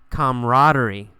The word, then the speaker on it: camaraderie: Camaraderie. You really don't pronounce that second A. We usually say camaraderie. Camaraderie.